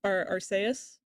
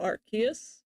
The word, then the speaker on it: Arceus: Uh I'm playing Pokemon Legends Archus. Uh I suppose in Japanese it's actually pronounced Arcus.